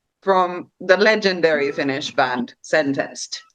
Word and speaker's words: Sentenced: But Taneli is probably like most well known from the legendary Finnish band Sentenced, or Sentenced, as we Finnish people would pronounce it.